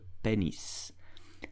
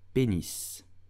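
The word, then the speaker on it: pénis: the body I'm talking about what English called penis but how do you pronounce it in French correctly you will say penis penis penis did you know that you need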